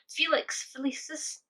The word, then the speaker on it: Felix Felicis: That is a Felix Felicis.